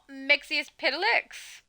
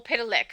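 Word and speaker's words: Mxyzptlk: Is it not Mixius Pitilix or Pitilik? I shouldn't say the S on the end unless I'm talking about like his possession of something, but you know.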